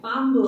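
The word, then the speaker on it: பாம்பு: इज the Tamil name, पांबू, पांबू, यस पांबू, हाउ डू you pronounce, पा, same पा है, बट उसके पहले इम आता है, पा, हम, पू बिकम्स बू बिकॉज़ एम है उसके सामने, अच्छा एम है इसलिए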